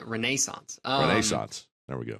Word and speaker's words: Renaissance: out ahead of that no it's Renaissance you got to really emphasize that Renaissance um shots there we